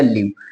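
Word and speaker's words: live: और वी को पढ़ते हैं व और ई होता है साइलेंट, यानी बन गया लिव।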